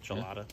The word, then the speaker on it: Chelada: Am I pronouncing that correctly? Mm-hmm. Chelada.